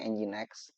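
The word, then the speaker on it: nginx: Kita mengenal yang sederhana itu ada engine X ya tulisannya ngings ya dibacanya engine X.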